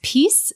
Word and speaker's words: PiS: the party which is pronounced peace but is spelled like piss with One S uh made many anti-democratic